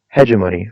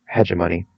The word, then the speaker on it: hegemony: One, hegemony or hegemony. I've heard it pronounced both ways. I'm preferential to hegemony.